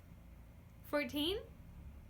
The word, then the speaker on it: fourteen: Okay h ere's the next one, Fourteen? Good! Did you hear the difference? Duh. Tuh.